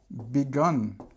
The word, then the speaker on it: begun: I have begun okay and again this is this sound so uh a sound I have begun so we have three